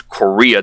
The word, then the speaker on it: Chorea: are overdosing on cocaine, which is Korea. That is the name of it. It's spelled Chorea instead of the country, the way it's spelled for the country.